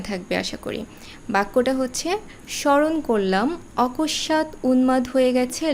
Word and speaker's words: স্মরণ: বের করব কিভাবে যেমন প্রথম শব্দটা দেখো স্মরণ স্মরণে ম ফলার কোন উচ্চারণ হচ্ছে না কেন হচ্ছে না ম ফলাটা কোথায় বসেছে ম ফলা বসেছে শব্দের প্রথমে তো এটাই আমাদের প্রথম নিয়ম যে শব্দের প্রথমে যদি ম ফলা বসে তাহলে সেই ম ফলার উচ্চারণ হবে না তো এরকম আরো কিছু